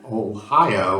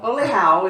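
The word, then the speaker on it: Olhão: We were pronouncing it Ohio or something like that. No, Oleao is how it's really pronounced in Portugal, in the Algarve near Faro.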